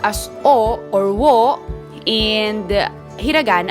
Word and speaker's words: を: this is pronounced as o or wo in the hiragan alphabet but then again just like a whenever you're going to use it as a particle it is pronounced as o remember that all right